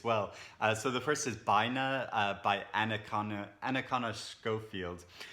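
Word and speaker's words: Bina: so the first is by now by Anakin Anakin or Scofield's who's really interesting writer I've read one of her previous books and and this is supposed to be pronounced by nur and it's about a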